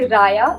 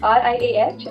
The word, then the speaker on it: Riah: It's actually Raya, like Raya Page, like RIAH and Page.